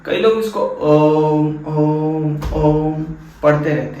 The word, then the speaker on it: ओम: ठीक है, अब ये जो है कई लोग इसको ओम ओम ओम पढ़ते रहते हैं, लेकिन दिस इज नॉट ओम, ये है ओम ओम ओम, AUM मीन्स ओम ओम अउमा। इसका उच्चारण होता है ओम मीन्स AUM।